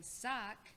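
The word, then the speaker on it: Wukz: i am currently playing sock who is rock sibling but sock is spelled w-u-k-z and i am also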